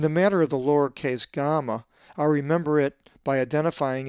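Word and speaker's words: γάμμα: is the upper and lowercase gamma, which looks different than any English letter, but is always pronounced as ga, as in God, not ja, as in huge, but ga.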